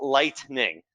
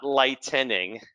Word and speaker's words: lightning: safety aspects of it it's called lightning not light tinning and i'm not making fun of anyone because i've done this before too but uh countless times